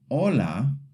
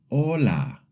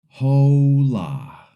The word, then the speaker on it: hola: The first word is hola. The wrong way is hola. In Spanish, the H is silent and the letter O makes the O sound.